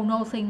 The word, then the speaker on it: nothing: Tại bình thường là no đúng không? Nothing. Nothing. No. Chữ này nó hơi giống chữ nó nha. Ờ, à, có người đọc nothing nữa chứ. Nhưng không. No. Dứt khoát là nothing.